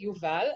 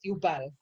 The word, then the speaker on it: Yuval: Like my little brother, his name is Yuval, and you pronounce it Yuval, and they pronounce it Yubal because they're stupid.